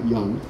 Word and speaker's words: Yonge: And it seems to be telling you that there are three places you can go to Yonge Street, and that's how it's pronounced, by the way, Yonge, Harlandale Avenue, and buses.